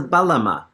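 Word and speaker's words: bağlama: It's a Balma from Turkey. Okay. Okay. It's spelled with a G, but I think the G is silent if if I remember my Turkish pronunciation.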